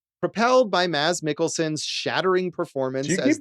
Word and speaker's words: Mads Mikkelsen: And yeah, Wikipedia actually has a recording of him saying it, and he says, Mads Mikkelsen.